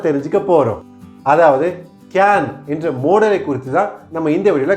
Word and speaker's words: modal: கேன் அப்படிங்கிறது மோடல் அப்படிங்கிற ஹெட்டிங்கில் வருது. சிலர் இதை மாடல் அப்படின்னு ப்ரொனவுன்ஸ் பண்ணுவாங்க, அது தவறு. இது மோடல், MODAL. இட்ஸ் அ மோடல், நாட் மாடல்.